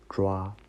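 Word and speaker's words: 抓: This word pronounced like "zhua."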